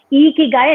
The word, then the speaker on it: Ikigai: And like you said, how Ikigai is pronounced as Ikigai.